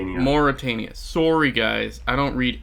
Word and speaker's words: Mauritania: I am going to produce from Mavritania, which gets me a food, but because Nathan... Do you pronounce that as a U, honey, not a V? Mauritania.